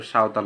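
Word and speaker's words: Santal: যারা পাহাড়ী অঞ্চলে থাকে সাওতাল তোমরা এখানে অনেকে ভুল উচ্চারণ করতে পারো এটা সাওতাল হবে সাওতাল লিভ ইন রাজশাহী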